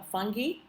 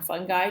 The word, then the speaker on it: fungi: the kingdom of uh fungi or fungi depending on how you want to pronounce it and again we kind